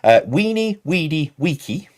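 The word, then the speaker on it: veni, vidi, vici: Now I've got the correct pronunciation from the patrons in the Discord server. Weenie, weedy, weeky.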